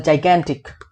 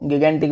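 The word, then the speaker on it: gigantic: एक होता है जाइगेंटिक, काफी लोग इसको गिगेंटिक बोलते हैं भाई, वो प्रोनाउंसिएशन गलत है थोड़ी सी, उसको सुधार लेना, इसको जाइगेंटिक बोलते हैं, ठीक है।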